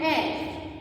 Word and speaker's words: heir: And the H is silent here. Okay, so what is the sound? A. So an heir is one who inherits the throne or property.